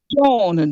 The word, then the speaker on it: Joan: Joan, Jone, yeah, Joan. I It's think pronounced Joan.